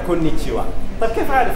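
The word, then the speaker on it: こんにちは: رغم انه هذه اصلا ايما هي ها ما تنطق إيما هي ها تنطق كونيتشيوا.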